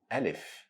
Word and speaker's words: Alif: Alif is pronounced exactly in the same way you pronounce letter A in English. So Alif sound as letter A in the word fat or letter A in the word lava.